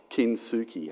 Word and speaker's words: Kintsugi: Can someone tell me how to pronounce that? Can you say it again? Kintsugi.